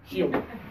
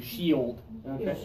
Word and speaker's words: shield: of English they do it as one syllable but that's because we've been practicing it for 37 years okay shield and it's easy for me but many native speakers also do it as two syllables so do it that way okay if you have